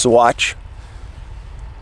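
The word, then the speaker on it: Saguache: so this is an area monte vista colorado south fork swatch i know it looks like sagger watch but it's pronounced swatch cochitopa pass ten thousand foot elevation this area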